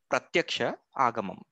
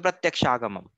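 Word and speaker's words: pratyakṣāvagamam: Pratyaksha agamam. So Pratyaksha agamam. Whenever we find difficulty to pronounce Sanskrit words, break it down.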